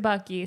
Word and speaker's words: Bakkay: It's like Backy. Bakkay. But he pronounced it Bucky. Right. He pronounced it Bucky, so it's Bucky.